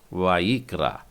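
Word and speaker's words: ויקרא: उसके बाद में रेश आ की मात्रा के साथ और आ, वा ई क्रा, वाई क्रा, इसका उच्चारण है वा ई क्रा।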